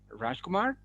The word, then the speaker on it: Rajkumar: tengo el gran placer de presentarles a una amiga mía, Rajkumar. ¿Cómo pronuncia su apellido?